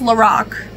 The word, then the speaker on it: Lorac: I did think it was a weird name because it sounded like the Lorax to me, but I didn't question it. You know, it's not my brand, but apparently it's Lorac.